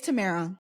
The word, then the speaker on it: Tamara: staff and if she said my name wrong he would be like it's Tamara and so then that's